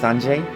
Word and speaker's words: Anjay: Most of it was just pretty long flashback showing us some of Anjay's life, which apparently is pronounced Anjay. Sort of a French pronunciation, Anjay.